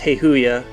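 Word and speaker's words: Hayoa: H A Y O A, but it's pronounced Heihoya.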